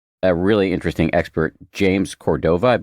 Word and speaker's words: Cordova: The first two episodes feature a really interesting expert, James Cordova. I hope I'm pronouncing that correctly. Yeah, it's Cordova, James Cordova.